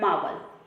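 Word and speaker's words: marvel: हमारा option number B है मावल। यहाँ पे आर साइलेंट है तो इसे अपन मावल पढ़ेंगे, जिसका मतलब होता है कोई चमत्कारी व्यक्ति या फिर चमत्कारी वस्तु।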